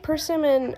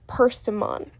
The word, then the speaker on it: Pimon: Pax Pimon, not Pimmen. I know that Pimmen is a word, and I know that Perseon's name is spelled similarly to Pimmen, but it's Pimon. Um, Pimon and Dander, they are my three little babies.